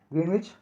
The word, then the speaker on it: Greenwich: Greenwich, though it is spelled that way, is pronounced Greenwich with the accent on Gren.